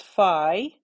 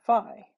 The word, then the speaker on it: phi: greek letter this is phi or sometimes fee sometimes it's pronounced fee it just sort of depends depends on where you're from depends on who taught